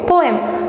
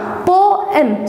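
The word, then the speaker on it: poem: So next word என்ன அப்படின்னா, English literature படித்த எல்லாருக்குமே தெரியும், போயம். ஸோ இந்த போயம் படிச்சுட்டு வாங்க அப்படின்னு தான் நம்ம யூஸ்வலாக சொல்லுவோம். பட் அதை எப்படி ப்ரொனவுன்ஸ் பண்ணோம் அப்படின்னா போஎம். ஸோ போம் அப்படின்னு தான் நம்ம ப்ரொனவுன்ஸ் பண்ணோம்.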